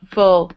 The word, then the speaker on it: full: And you have to make sure you're pronouncing them differently. So it's this full pull look versus fool pool Luke bull pool pull pool. You hear the difference?